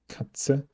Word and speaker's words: Katze: TZ simply remains the same sound. Z, Katze.